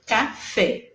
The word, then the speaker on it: café: F é café. Fé é a última sílaba, ela é a mais forte, né? E acentuado porque terminou em vogal.